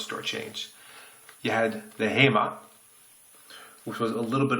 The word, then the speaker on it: HEMA: So, the blades from Danny van Rooyen, the HEMA blades, HEMA, as it's pronounced.